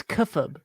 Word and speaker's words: kayfabe: oh okay yeah it's kefab people keep saying kayfabe it's kefab okay i yeah need